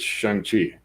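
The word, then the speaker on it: Shang-Chi: how do you say it he's like it's shang chi yeah yeah exactly and they make fun of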